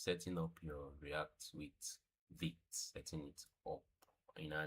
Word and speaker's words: Vite: Not Vite. What is Vite? Pronounced as V-E-E-T.